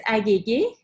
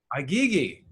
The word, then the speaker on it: Aghighi: It's Aghighi. Aghighi. Yeah, well, the right pronunciation of it is actually a little challenging, so I settled with Aghighi.